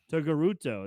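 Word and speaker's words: Togruta: Togaruto.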